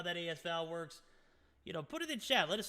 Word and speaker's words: AS Val: already back the asl as val is out guys i don't know how you say it the asval no it's as val i haven't used that